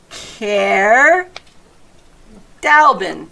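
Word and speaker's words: Caer Dallben: There's in the book right here, there are like how to pronounce the words. So, Care, Dalbin.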